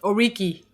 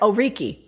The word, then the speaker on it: Oriki: Did I pronounce that right? Oriki. Yeah, Oriki.